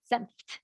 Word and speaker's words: Senft: Sue says, how would an FT at the end of a name be pronounced, such as Senft, just like that, Senft, FT. So in German, really almost every letter is also pronounced.